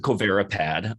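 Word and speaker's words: COVaRiPAD: So I pronounce it Covirapad. It's been pronounced many different ways, but it stands for COVID vaccine responses in patients with autoimmune diseases.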